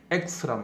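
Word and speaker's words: axe: X란 말로 발음돼요.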